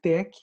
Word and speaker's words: TeX: do lan por mil tec é o tal epson que por isso que ele pronuncia tec o tex então pode parecer se